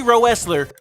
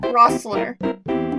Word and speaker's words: Roessler: The first E is silent, so it's like, it's a German last name.